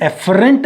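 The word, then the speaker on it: afferent: एक होती है एफरेंट नर्व्स और एक होती है एफरेंट, यानी कि एक है AFF और एक है EFF। ठीक है ना? प्रोनाउंस एक ही तरह से होंगे, एफरेंट एंड एफरेंट।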